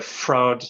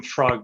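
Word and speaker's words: Freud: because this is the fraud I say fraud fraud or the psychologist fraud I always call him frog but apparently it's a wrong pronunciation yeah we'll call it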